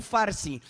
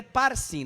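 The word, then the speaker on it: Parsin: E este, pois, é o escrito que se escreveu: Mene, Mene, Tekel, Parsim, ou Farsim. Mas é Parsim, não é o Farsim. Esse camarada está inventando moda. É Parsim com P.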